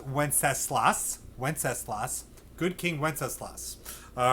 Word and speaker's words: Wenceslas: right now into good king wenceslas that is pronounced wenceslas wenceslas good king wenceslas all right so that